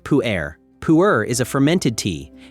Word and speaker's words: pu-erh: equivalent anywhere else in the tea world, pu-erh, pronounced pu-erh.